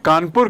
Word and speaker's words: Kanpur: देखिए कानपुर की स्पेलिंग और इसका उच्चारण भी कानपुर। Y? Because British people can not pronounce कानपुर। आज इसका स्पेलिंग है KAN, उस समय इसको CAWN, PORE।